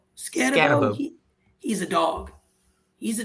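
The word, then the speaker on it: Skattebo: Scannabo. Scannabo.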